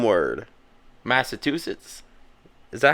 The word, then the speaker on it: Massachusetts: Massachusetts. Is that how you say it? Well, how do you say it? Massachusetts. I say Massachusetts. You don't have to pronounce the U.